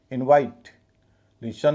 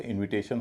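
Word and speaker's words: invitation: इनवाइट, शन लग जाता है तो इनविटेशन हो जाता है, इनवाइटेशन नहीं होता।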